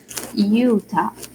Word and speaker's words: Utah: Utah. Yes, the pronunciation of the letter, it's always like that, Utah, right?